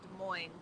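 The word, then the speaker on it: Des Moines: got it for sales so De Moine in Iowa is called De Moine but when I move to Seattle they have a town that's spelled exactly the same way south of Seattle but it is not called de Mo there anybody got any idea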